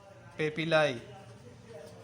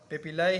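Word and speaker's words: papillae: British accent और American accent में जो है ना वो अलग अलग इसकी प्रोनाउंसिएशन है। आप कुछ लोग कहते हैं कि पेपिली है, कुछ कहते हैं कि पेपिलाई है, जो भी आप कहना चाहे।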